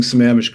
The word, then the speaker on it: Sammamish: And good job of pronouncing Samish correctly.